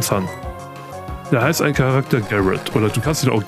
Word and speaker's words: Garret: Garrett. Oder Garrett von mir aus. Aber er hat den Garten ausgesprochen. Also so wie der Garten im Englischen. Garden.